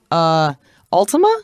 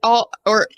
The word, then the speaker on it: Altama: events, the Battle of Altima? Yes, it's Altama is how you say it.